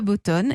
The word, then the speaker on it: BoatOn: fondateur de boston alors bottone ça s'écrit en fait c'est en anglais ces boat one incessants bo à théo end on a décidé de l'appeler bottone c'est ça absolument c'est